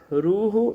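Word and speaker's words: روح: And so when we read Quran, then Allah Ta'ala says in Quran that Ruhu min amr min Allah. My pronunciation, excuse me for my pronunciation, but it's Ruh min amr min Allah.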